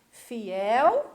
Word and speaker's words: fiel: Fiel, fiéis. Cruel, cruéis. E a palavrinha fiel é um oxítono, é uma palavrinha oxítona. Também a última sílaba é a mais forte, né?